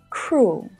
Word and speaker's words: cruel: The words duel and cruel have the same vowel letters and also the same vowel sound. They're pronounced in the same way with just one syllable. Fuel, duel, cruel.